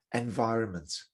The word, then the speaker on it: environment: with this word environment you don't pronounce the middle n the middle n is silent establish establish before you